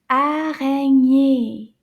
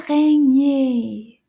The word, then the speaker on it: araignée: Araignée. Can you say that one? Araignée. Let's count the syllables in this word. Araignée. Can you count? Can you clap with me? Araignée. 3. Araignée. 3 syllabes.